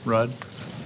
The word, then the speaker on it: Ruud: your last name r-u-u-d how you pronounce it Road Rudd okay judgment Mr Raj